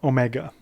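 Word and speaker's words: ω: And then we've got omega. Omega sounds like a long O, as in logo, or the word no.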